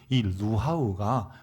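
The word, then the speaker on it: רוח: 특별히이 루하흐가 구약 성경에는 하나님의 영을 가르킬 때 루하흐 이렇게 발음했어요.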